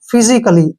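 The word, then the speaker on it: physically: पर हम जो है सी ए को सिर्फ क पढ़ेंगे का नहीं पढ़ेंगे फिजिकली क्या पढ़ेंगे इसको फिजिकली ए यहां पर साइलेंट रहेगा ऐसे ही जैसे येय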